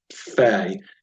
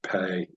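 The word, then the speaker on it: פ: Again, just to clarify, because the letter in the tracing template does not have a dagesh, technically that would be Fe, even though you'll see down here below they're calling it Pe. Technically, it's Fe.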